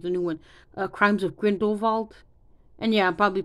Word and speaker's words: Grindelwald: Crimes of Grindelwald. And yeah, I'm probably pronouncing his name wrong, but we're gonna say Grindelwald.